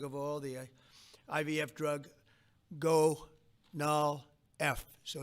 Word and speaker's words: Gonal-F: most popular drug of all, the IVF drug Gonal-F. So it's Gonal-F. Is that a proper pronunciation? Very Close well enough, done. right? Very well done. Gonal-F.